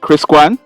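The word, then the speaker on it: Chris Quan: the argument with is kris kuan is it kris kuan it's spelt c-h r-i-s q-u-a-n anna k echols she's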